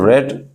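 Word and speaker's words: read: being फिर third फम रेड bye Mohan third form के रूप में रीड को रेड पढ़ा जाता है स्पेलिंग वही रहती है आपकी तो नवेल वाज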